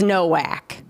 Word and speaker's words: Nowak: Tell us that you Tell us that you like that we pronounced it in the traditional, what is it? Polish? Nordic? Okay.